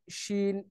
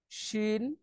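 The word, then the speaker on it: ش: তারপর হচ্ছে জিম, শিন, ইয়া, এই তিনটা হচ্ছে জিহ্বার আম, মধ্যখান থেকে তার বরাবর উপরে তালুর সাথে লাগিয়ে আমরা এটা উচ্চারণ করতে পারি। আহ, জিম, শিন, ইয়া।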